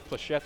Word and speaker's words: flechette: Flechette is how you pronounce that grenade. It's French, I'm sure it is.